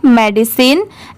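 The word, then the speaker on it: medicine: तो यहां पर इसे साइन नहीं प्रोनाउंस करेंगे। यहां पर मेडिसिन की साउंड है।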